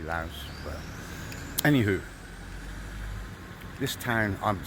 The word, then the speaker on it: Laos: It's got an S on the end, so it should be Laos.